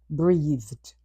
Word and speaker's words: breathed: In its past form, the final ed sounds like du. Breathe. means to take air into the lungs then let it out. Let's look at some sentences how we can use the word breathed.